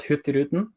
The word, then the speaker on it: Hurtigruten: They actually put, there's a cruise around Norway, which is called Hurtigruten. That's the Norwegian pronunciation.